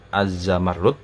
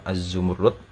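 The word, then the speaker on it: الزمرد: dan dengan kekhususan inilah ini bacanya itu bisa azzamarlud bisa azzumurlud ya Kalau bahasa Arabnya itu memang azzumurlud dan di bahasa kita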